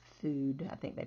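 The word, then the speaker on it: fude: F-U-D-E, Feud. Looks like Feud, but it's Food.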